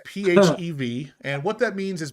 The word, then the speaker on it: PHEV: So that's not pronounced FEV. That is just PHEV.